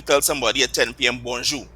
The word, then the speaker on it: bonjour: So they say good morning or hello, you say bonjour. Bonjour. Yes, and notice again that French R is not there anymore.